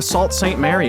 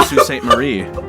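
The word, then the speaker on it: Sault Ste. Marie: yeah we're going to they're going to Salt St Mary and I'm like no no no you're going to S St Marie we're going to maak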